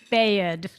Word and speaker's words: Bayard: How does pronounce his last name? B-A-A, Bayard? Say it again. Bayard. Bayard, I got it that time.